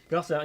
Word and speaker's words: Garcin: Garcin, yeah, that's the good pronunciation.